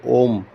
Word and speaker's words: ओम: इफ यू can recite ओम और उसको ओम को भी कहने के तरीके हैं आ उ और अम उसमें तीन अक्षर आते हैं उसको अगर हम